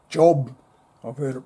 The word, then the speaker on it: Job: book of it's spelled J O B. Australians will say Job. I've heard it pronounced Job. I think the Hebrew pronunciation would be Yov.